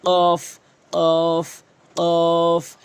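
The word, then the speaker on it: ق: দাগগুলো নিচের ঠোটের পেটে রাখবেন ফা ফা এরপরে কফ কফ কফ এই কফটি মারাত্মক লেভেলের ভুল করে থাকে মানুষ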